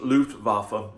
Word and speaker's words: Luftwaffe: It looks like Luftwaffe, but it's pronounced Luftwaffe.